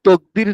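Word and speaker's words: تأكيد: জি, এই যে এইখানে বহস নফি, নফির তকদির না তাকদির, এটা উচ্চারণটা কি কি হবে?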